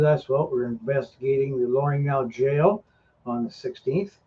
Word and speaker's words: L'Orignal: Oh, that's how you say it. I was saying l'original. The original? That's a very French pronunciation. Mind you, mine isn't very French, but it's more French than l'original.